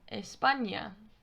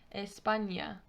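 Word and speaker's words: España: now the enya is pronounced exactly the same way as the first n in the english word onion the sound the onion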